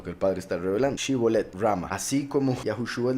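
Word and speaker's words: שיבולת: Entonces, ellos pronunciaban Sibolet, ellos lo pronunciaban con Samech, la letra del mes, curiosamente, la palabra Shibolet con Shin, pero ellos pronunciaban Sibolet con Samech.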